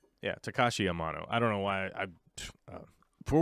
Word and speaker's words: Takashi Amano: if there was a dream job, it's like Takahashi. How do you say his name? I always get his name wrong when I'm live. Takashi Amano, right? Yeah, Takashi Amano.